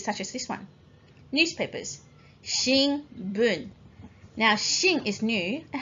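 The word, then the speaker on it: 新聞: So in this case, it is pronounced shin, shinbun.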